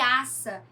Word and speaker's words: aça: Asa, né? Com um S só, que tem som de Z. E aça, com dois S. Então, vejam a diferença entre essas duas palavras.